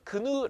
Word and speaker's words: GNU: 아마 여러분 대부분 은 GNU 라는 단어 를 보면 "G-N-U" 라고 읽을 겁 니다 . 하지만 실제로 는 " 구누 " 라고 발음 합니다 .